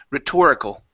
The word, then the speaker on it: rhetorical: one here is rhetorical our stress is right here in the middle rhetorical rhetorical that's a rhetorical